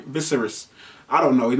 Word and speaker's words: Viserys: Is it Viserys? How do you say his name? Viserys. I wanna say his name. Viserys. I don't know. His name V-I-S-E-R-Y-S.